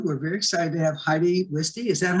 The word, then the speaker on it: Heidi Wiste: Today, I want to introduce to you, we're very excited to have Heidi Wiste. Is that how you pronounce it?